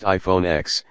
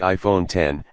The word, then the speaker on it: iPhone X: since the original iPhone it's not pronounced iPhone X it's the iPhone 10 and the screen takes